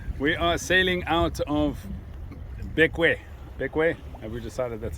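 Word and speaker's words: Bequia: We are sailing out of Bekwe. Bekwe? Have we decided that's how we pronounce That's it?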